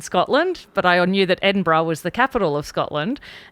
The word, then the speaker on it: Edinburgh: so the capital um capital city of Scotland Edinburgh MH um until I was probably close to